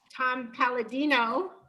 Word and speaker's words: Tom Paladino: I'm Cynthia Glickman, and I have an amazing guest with me today, Tom Paladino. Am I pronouncing that correctly? That's correct. Awesome.